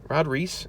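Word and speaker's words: Rod Reis: Hickman and rod Rhys rod Reese is how you say his name I think it's how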